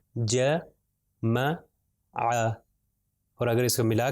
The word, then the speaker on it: جمع: پھر اگلی مثال ہے جیم میم اور عین، اور سب کے اوپر جو ہے فتحہ ہے، زبر ہے، تو اس کا تلفظ کیا ہو جائے گا جمع.